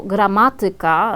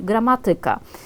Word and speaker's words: gramatyka: I na przykład słowo gramatyka, tak jak teraz Państwu zaakcentowałam, na trzecią sylabę od końca powinniśmy akcentować, natomiast w normie potocznej i w takiej codziennej polszczyźnie rzeczywiście najczęściej słyszymy, jak ktoś mówi gramatyka.